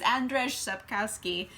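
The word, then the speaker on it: Andrzej Sapkowski: so that's my fault but I think it's Andres up Kowski and this is the book series for The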